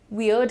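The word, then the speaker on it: weird: वर्ड यूज करते हैं, बड़ा वियर्ड है। अब इसी को प्रोनाउंस करते वक्त कई सारे स्टूडेंट्स वर्ड, वर्ड, पता नहीं क्या क्या बोलने लगते हैं, है ना।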